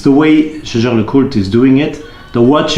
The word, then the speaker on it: Jaeger-LeCoultre: The very famous manufacturer Jaeger-LeCoultre, or as the French pronounce it, Jaeger-LeCoultre, they also have an